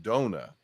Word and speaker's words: Dona: said and that her it was originally supposed to be pronounced Dona so it's she's actually like it is Donna Spear but because she goes by like an anglicized version of it but it was really Dona it was really